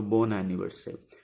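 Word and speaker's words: bon anniversaire: anniversary Bor anniversary again you see the same thing like Bon pridi ending with the consonant and starting with OV so this will be pronounced here so born anniversary born anniversary like happy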